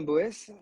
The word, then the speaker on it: Boès: ouais, alors, Boès, c'est la prononciation hors Alsace, parce qu'à la base, je viens d'Alsace. Et en Ah, Alsace, on a plus tendance à dire Beuss avec des grandes racines germaniques.